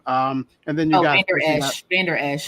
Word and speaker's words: Vander Esch: I can't pronounce his name. I forget his name. And then you got Vander Esch. Vander Esch.